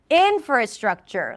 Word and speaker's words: infrastructure: The moment you put the stress on the right syllable, everything else was effortless, right? Like all of a sudden you you didn't get all tangled up with your pronunciation. Do it again. Infrastructure. Yeah. Because the most of the energy goes for the in and everything else is like it's just there.